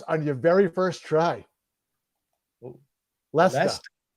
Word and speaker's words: Leicester: Leicester. It looks like Leicester, but it's called Leicester. Oh yeah, Leicester, because there's no R in that.